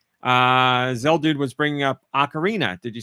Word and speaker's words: Ocarina: Uh Zeldude was bringing up Ocarina.